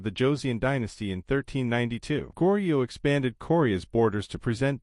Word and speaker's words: Goryeo: Goro 1,39 to 918 also pronounced Coro was a Korean Kingdom